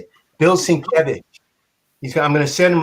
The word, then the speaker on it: Sienkiewicz: His name is Sienkiewicz. That's how you say it? Bill Sienkiewicz.